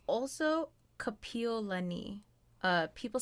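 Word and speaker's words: Kapiʻolani: hawaii hawaii it's also kapiolani uh people say kapiolani which is a name slash street name over here right just everyone says capilani and i'm like piolani kapiolani see i need to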